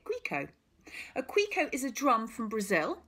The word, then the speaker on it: Cuica: called a Grieco Grieco that's how you actually spell it a bit different to how you say it Rico a quico is a drum from